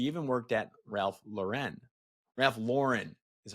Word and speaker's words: Ralph Lauren: agency leadership she even worked at Ralph Lauren Ralph Lauren is how you pronounce it actually uh but notorious 111 is